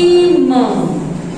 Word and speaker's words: irmã: É diferente de irmão. Percebam que aqui a sílaba tônica é aqui, ó. Diferente, ó. Irmão. Olha, irmã. A sílaba tônica é a última. Então, ela é oxítona.